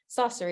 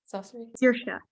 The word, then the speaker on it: Saoirse: I was like, oh my god, it's Saucery. Is that how you say it? Saucery. Saoirse. And if anyone hasn't watched Dairy Girls, it's unbelievable, and that's the lead is in Dairy Girls.